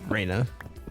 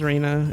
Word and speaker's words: Rana: It's spelled R A N A, which I think you can pronounce as Raina. It's probably like Ra or something.